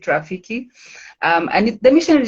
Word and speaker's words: Roffeke: how Rafiki came about it's rock and roll Film Festival Kenya but I pronounce it Rafiki um and the mission